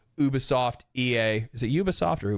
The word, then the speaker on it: Ubisoft: I have always said Ubisoft because it's from the word ubiquitous because I watch that